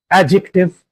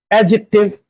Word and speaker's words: adjective: The words that have this alphabetical structure are adjective, adjustment, adjournment, etc. In all these words, there is DJ alphabetical structure in which D is silent and J is actively pronounced. Adjective, not adjective. Adjustment, not adjustment.